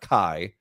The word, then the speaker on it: Khai: So Khai. So I would pronounce that Kai.